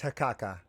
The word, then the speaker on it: Haukkakka: Yeah, it's Hakaka. Ha Hakaka.